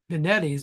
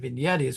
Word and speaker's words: Vinetti's: And I'm not Granny, just so you all know, I'm not Granny, just because I mispronounced Vinetti's instead of, it's supposed to be Vinetti's, but I pronounced it Vignetti's one time.